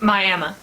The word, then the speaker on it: Miami: It's spelled the same as Miami, the city in Florida, but this Oklahoma town is pronounced Miami.